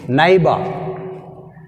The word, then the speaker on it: neighbor: Next 22, neighbor. Neighbor. Neighbor word which is silent, gh is silent.